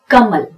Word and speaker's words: कमल: जब भी आप कमल शब्द का उच्चारण करते हैं तो वो होगा कमल। अब यहां पर क पूरा सुनाई देता है, म पूरा सुनाई देता है, पर ल जो है वो यहां अटक जाता है।